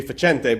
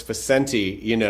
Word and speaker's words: Facente: So they changed the pronunciation of my mom's last name. Yes, yes. Which was supposed to be Facente, but now it's Facenti, and it just, Yeah, I hate that.